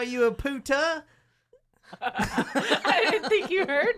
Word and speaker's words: puta: can't call you a puta? I didn't think you heard me or understood me. Oh, shit. Plus, you didn't put the accento on the right. It's puta. It's a puta.